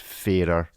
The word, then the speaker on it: Farer: me it is pronounced fairer so there you go resolved like the fairer sex like is that what